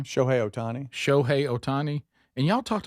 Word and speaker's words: Shohei Ohtani: Shohei Ohtani.